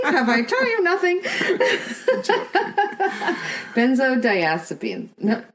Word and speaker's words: benzodiazepines: Benzodiazepines. No. Sounds like Did I say it wrong? No, I think... Benzodiazepines. I think that's good.